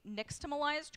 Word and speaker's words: nixtamalization: Uh that X sound makes the sh if you're pronouncing it more in the traditional Aztec way, which is where that word comes from.